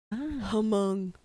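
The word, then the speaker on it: Hmong: I think among people the H is silent Hong in that area there's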